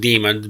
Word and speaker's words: daemon: that aren't familiar what Damons are Damon there is sometimes pronounced demons but they're different than